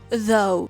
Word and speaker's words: though: Тут наше ou читається як o though.